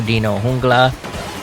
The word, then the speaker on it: Jungla: But it's basically just Dino Jungla or Dino Jungle. So without the E at the end, you pronounce it with the A instead of the E.